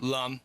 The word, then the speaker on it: Lum: Or is it Lum or Loom? Lum. Lum, I'm Yep.